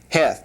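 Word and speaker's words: ח: Heth pronounced like that.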